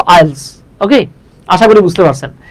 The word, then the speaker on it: IELTS: হলো ভাইয়া একটা অ্যাক্রোনিম সো এটা আই ই L three S বলবো না আমরা এটা বলবো আইলস ওকে আশা করি বুঝতে